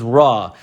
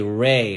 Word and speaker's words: Ra: get the word re we say re we don't say ra ra is the english way next word is going